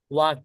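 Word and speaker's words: walk: become হওয়া বি হওয়া ভিক্ষাম হওয়া ওয়াক হাটা ওয়াল হাটা ওয়ালক না এটা এখানে এলটাকে বলা হয় সাইলেন্ট এল অর্থাৎ নিউর এল এখানে কিছু এরকম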